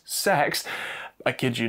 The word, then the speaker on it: CEX: Well, it's hard to say why CEX, which shockingly, they insist you channel your inner 13-year-old and pronounced sex, I kid you not, has priced this so shockingly low.